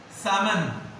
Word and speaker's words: salmon: Salmon. Salmon. Salmon. Salmon is the name of fish. L silent.